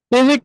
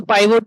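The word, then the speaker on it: pivot: पिवेट table जिसको पाइवोट table भी लोग बोलते हैं। तो पी आई वी ओ टी वैसे इसकी स्पेलिंग होती है। पिवट टेबल बोला जाता है इसको।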